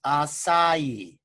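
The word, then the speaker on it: açaí: tea okay and it's it's pronounced a it's pronounced acai acai is pronounced ice ie okay and if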